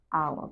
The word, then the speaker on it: hour: a hour but an hour because the H is silent okay and let's also